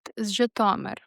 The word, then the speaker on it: Zhytomyr: Zh Is often the trickiest part. It's not z and it's not j. It's the sound right in the middle of measure or pleasure. Try it. The stress is on that second syllable.